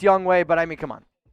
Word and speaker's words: Younghoe: It's Younghoe. I know it's Youngway, but I mean, come on.